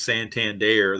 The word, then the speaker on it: Santander: those guys well one of the guys is Santander that's how you pronounce that name yeah it's the outfielder I forget his first name but it's Santander Santander there I have to remember that it